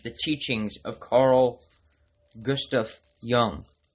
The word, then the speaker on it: Jung: teachings of Carl Gustaf Young. And that is Young spelled with a J.